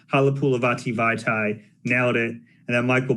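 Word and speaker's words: Halapoulivaati Vaitai: I was like, Halapulavati Vaitai, nailed it. And then Michael B asked me to spell it.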